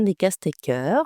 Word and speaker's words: Decaestecker: Aujourd'hui, j'ai le plaisir d'accueillir Descastecker. Je prononce comme il faut.